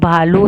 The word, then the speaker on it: आलू: आलू फूल कबूतर तो आलू है तो लकी नीचे बड़ी की मात्रा लगी हुई आलू आलू इसका उच्चारण थोड़ा लंबा होता है मैंने आपको बताया था